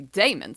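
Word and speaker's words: Daemons: I say Dams because it's spelled D A M O Ns.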